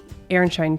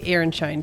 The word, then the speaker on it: Aronszajn: Aaronshine trees. Before we get to Aaronshine Trees, aka Aronshine trees. Okay, it's not spelled like that, but that's how it's pronounced.